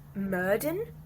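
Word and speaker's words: Myrddin: never really called Merlin in it he's called murdon like m-y-r-d-d-i-n and it's like the Welsh spelling of Merlin like the Welsh pronunciation kind of was Merlin Welsh yes well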